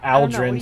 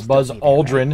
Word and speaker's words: Aldrin: It's Aldrin, not Aldrin. So if you're a history buff, learn to pronounce his name correct.